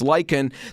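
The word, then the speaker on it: lichen: algae get together and there you go it's liken they're tenacious they really grip onto the surfaces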